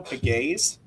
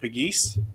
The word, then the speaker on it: Pegues: So this is the pronunciation I saw. Gabriel Pegues. I think we've always said Pegues, but Gabriel Pegues, I believe, is the correct pronunciation for the 2025 Lynchburg commit that goes to McLean High School.